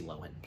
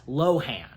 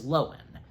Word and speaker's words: Lohan: for a long time people have been saying her last name pronouncing it as Lohan it's not Lohan even she herself established that the proper way to to pronounce her last name is Lohen Lindsay Lohen there you go anyways um